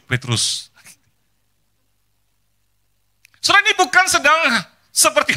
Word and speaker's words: Petroes: Kalau saya ngetik apa dan sebagainya, lalu admin di hotel atau apa bacanya, oh Bapak Petroes, gitu ya. Rasanya sakit hati, Petrus Bu, Petrus.